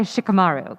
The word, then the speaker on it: Shikamaru: So I've always had to say Shikamaru. Yeah. But how do you guys say it? Well, at one point, for like 2 years, like 500 years ago, because I'm 90, it was like, Shikamaru.